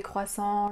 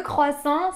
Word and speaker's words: croissant: évidemment le croissant le croissant c'est pas toujours facile à prononcer parce qu'on a le son creux creux qui est pas facile le seul conseil que